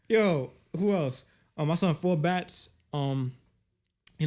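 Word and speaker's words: 4Batz: Four bats. Four bats. Four four bats. Like four b a tz.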